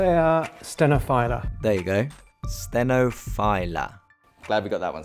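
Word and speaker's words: stenophylla: speak to the man himself how do you pronounce sinify little filler or stenophila it's coffee a stenophila there you go stenophila glad we got that one sorted it used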